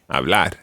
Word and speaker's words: hablar: Okay, when you're saying an infinitive, always trying to put the pronunciation, or the stress rather, on the last syllable. Comer. Comer. Hablar.